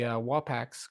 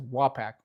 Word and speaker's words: Wapak: the Wapaks go basically down to the bottom.